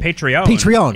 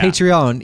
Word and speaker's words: Patreon: How did you pronounce it? Patreon. Yeah. Patreon.